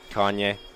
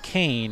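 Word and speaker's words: Kayne: Kanye. And that's because it's spelled K-A-Y-N-E, Kane, yeah. But they kind of pronounce it a little bit differently.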